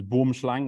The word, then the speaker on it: boomslang: The proper pronunciation in Afrikaans is boomslang, which means tree snake.